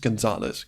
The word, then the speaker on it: Gonzalez: himself Francisco Gonzalez and is not how you pronounce his last name please don't hold that against me it's just Gonzales cans Gonzales yes twosies very important I keep